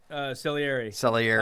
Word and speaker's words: Salieri: Salieri. That's how you say it.